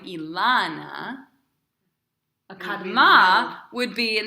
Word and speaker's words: Elana: But we don't pronounce my name Ilana, right?